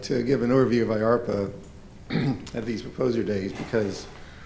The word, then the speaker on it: IARPA: So we like to give an overview of IARPA at these proposer days because oftentimes people come in and think, IARPA, what the heck is that? So our name sounds like DARPA, and it rhymes with DARPA, and in fact we